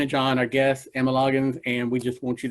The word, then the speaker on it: Loggins: and if I mess, is it Loggins? Is that exactly how you say it, Loggins? Yeah, Loggins, like Kenny Loggins.